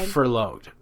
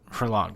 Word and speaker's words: furloughed: They're furloughed. Furlonged, how do you pronounce it?